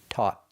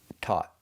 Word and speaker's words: taught: We're using the aw sound, like ball and call, and we finish with a stop t. Taught. Taught. So, it starts with t and it ends with t.